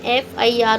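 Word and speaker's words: FIR: एफआईआर का उच्चारण एफआईआर हो रहा है।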